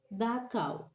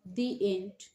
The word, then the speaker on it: the: তাহলে যদি শব্দের প্রথম অক্ষর কনসোনেন্ট হয় এবং তার পূর্বে THE বসে, সেক্ষেত্রে উচ্চারণ হবে দা।